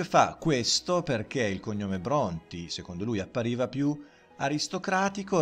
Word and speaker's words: Brontë: che era Branti Pranti, in Bronti con la dieresi sopra la E, affinché gli inglesi non storpiassero la pronuncia e quindi pronunciassero questa E, che secondo le regole invece della pronuncia dell'inglese moderno non avrebbe dovuto essere pronunciata.